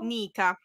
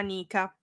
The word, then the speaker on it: Nica: lo ricordo Nica Nica Ah ok tipo Veronica o tipo Nica Nick la farfalla c'è una farfalla che si chiama Nika ma gli americani la chiameranno sicuramente come la chiameranno Nik tipo Nike come dicono nikee gli americani cioè di Nike Ma